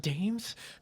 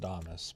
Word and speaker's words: Damas: GNA be so confused it's not Dames well technically it's pronounced Damas but I don't care people